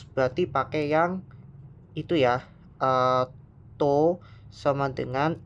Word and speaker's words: tau: Kalau ada simbolnya T kayak gini, itu dibacanya namanya tau.